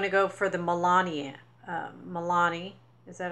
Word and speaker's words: Milani: Milani. Is that how you say it? Milani.